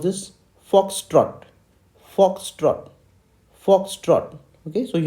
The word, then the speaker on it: foxtrot: o t dot so what how do we pronounce this foxtrot foxtrot foxtrot okay so you have to emphasize